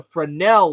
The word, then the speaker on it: Fresnel: It is once again Ted the Speed Learner, and tonight I'm going to teach you about the Fresnel lens. Okay, now I know it's spelled F-R-E-S-N-E-L, but it's pronounced Fresnel.